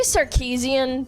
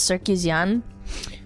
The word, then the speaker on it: Sarkeesian: I I'll say Sarkeesian because that's the American way of pronouncing it, but she's part Armenian and the way you say it is Sarkeesian.